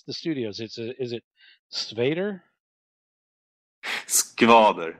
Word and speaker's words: Skvader: Skvader. It's a hard pronunciation for Americans.